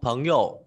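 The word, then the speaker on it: 朋友: Từ chữ này đúng một mình thì đọc là hiểu, là thanh ba, nhưng khi đi với từ bạn bè thì đọc thanh nhẹ, đọc là phấn hiểu.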